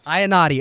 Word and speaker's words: Iannotti: Am I pronouncing it correctly? Iannotti. Iannotti.